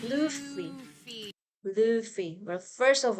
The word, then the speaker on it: Luffy: not know is how to pronounce his name. It's Yeah, I agree with Luffy. you. It's Luffy.